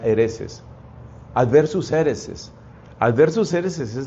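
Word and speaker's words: haereses: En latín se dice adversus, con B corta, adversus a hereses, que se pronuncia hereses.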